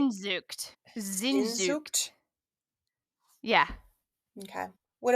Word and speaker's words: Sehnsucht: So it's Sehnsucht, which is way more like consonants than any word should have.